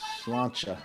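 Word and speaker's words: sláinte: I'm still pronouncing that. Salute. Salute. No, it's like Slancha.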